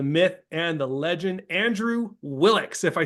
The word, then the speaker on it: Willox: the man the myth and the legend Andrew willix if I said that right Andrew how are